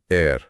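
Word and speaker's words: heir: अगला 799 एयर ए आई आर। यहां ध्यान दें एच साइलेंट है। उच्चारण एयर है।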